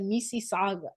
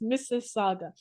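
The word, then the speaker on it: Mississauga: how to pronounce it I was like Miss Saga s and they were like no it's Miss Saga and I had to say it many times like to get it right Miss Saga and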